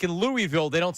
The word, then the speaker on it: Louisville: they say Detroit it's it's like in Louisville they don't say that they say Louisville not Louisville right in New Orleans it's New Orleans locals Say New Orleans, not New Orleans.